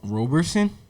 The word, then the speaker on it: Roberson: ass homeboy his name d r rob roberson robertson hamilton what's your last name it's roberson what robert robertson can you spell that it's r-o-b-e-r-s-o-n robertson okay yeah um i